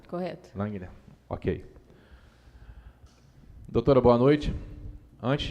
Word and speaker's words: Langner: Correta a pronúncia? Correto. Langner.